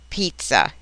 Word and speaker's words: pizza: Roso Stella s Jesso a double z is always pronounced like a TS as in the well-known word Pizza a single Z that